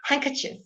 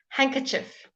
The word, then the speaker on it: handkerchief: right then this lovely handkerchief the D is silent schedule is BR British schedule is American thank you Alex I don't really know I did think it might be all right handkerchief handkerchief especially in South Africa